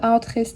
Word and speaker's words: Uitgeest: stayed in villages and i learnt how to pronounce it on the train lol they were always saying ✨uitgeest✨ before we used to read it as in